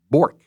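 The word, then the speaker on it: Bjork: And Paige Bork. Right, you don't pronounce the J. B J O R K. Okay. Bork.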